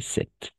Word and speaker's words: cette: On va prononcer cette. D'accord? Comme ça, cette.